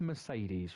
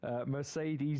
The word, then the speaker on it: Mercedes: We pronounce the E in Mercedes three times differently.